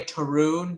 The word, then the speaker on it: Tarun: Tarun, like the color maroon, but with a T instead of an M.